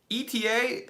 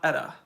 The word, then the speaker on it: ETA: car it's a Jeep eta is pronounced ETA not Etta okay and I understand